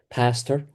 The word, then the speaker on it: pasture: So the traditional pronunciation of pasture is pastor.